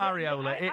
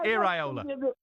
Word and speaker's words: Iraola: It's not Areola. Iraola. Iraola.